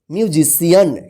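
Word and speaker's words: musician: एन इसको क्या पढ़ेंगे म्यूजिशियन क्या पढ़ेंगे म्यूजिशियन म्यूजिशियन देखिए यहां पे सी के बाद आई ए आया है तो सी का स उच्चारण ठीक है देखिए यहां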